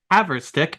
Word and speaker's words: Haverstick: Haverstick. Welcome to the podcast. How are we doing today? I'm great. You pronounced my last name correctly, which no one does.